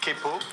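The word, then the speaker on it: quepo: Et en plus, il y a une particularité quand on l'écrit, c'est kepo. Et kepo, ça s'écrit Q avec un Q.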